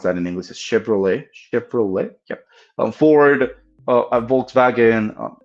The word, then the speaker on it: Chevrolet: know, Chevys or Chevrolets, um, how do you pronounce that in English? A Chevrolet.